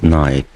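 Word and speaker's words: night: وهنا عندي أول ما أشوف الآي جي اتش بنطق الصوت الطويل للآي آي وما انطقش الجي اتش، فبقول نايت.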